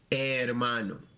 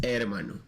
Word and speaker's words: hermano: Remember, the H is silent, so it's gonna be hermano. I just ignore the H and it is hermano.